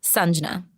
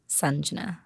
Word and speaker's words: Sanjna: Sanjna, like the sun. Sanjna.